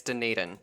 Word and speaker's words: Dunedin: phone in the other room yeah yeah it's dunedin oh dang it okay sentence to six months